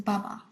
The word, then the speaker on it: Baba: the wrong way but I'm positive is Baba that's how you say it pronounce it but it's b-a-b-a and you know that